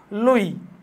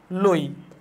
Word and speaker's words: Loewy: তাহলে হচ্ছে 1969 সালে দিছে কে দিছে, লোই। কে দিল, লোই।